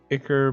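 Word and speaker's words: Ichor: Acre bike or whatever I pronounce it Ecore I've always found the Ecore and I know plenty of people who are pronouncing I know it to be occur but keep thinking Igor alright well that's a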